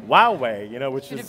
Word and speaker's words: Huawei: going to introduce the American consumer to the Huawei brand, and part of that is sort of teasing or telling people how to pronounce Huawei, and they have these ads out there that say Huawei, which I'm not sure is the best way